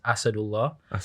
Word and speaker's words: Asadullah: So yeah, so my proper pronunciation is Asadullah, and a lot of people call me.